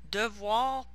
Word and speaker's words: devoir: Some voir verbs, so notice that the OE is pronounced wa. So devoir, pouvoir, vouloir, so must